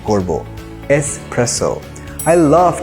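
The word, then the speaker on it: espresso: এসপ্রেসো যেটি এক ধরনের কফি অনেকেই এই ওয়ার্ডটিকে প্রোনাউন্স করে এসপ্রেসো কারণ এটিতে দুটি এস আছে স্পেলিং এ কিন্তু আমরা দুটি এস থাকলেও একটি এস এর প্রোনাউন্সিয়েশনই করবো এসপ্রেসো I love to have a strong cup অফ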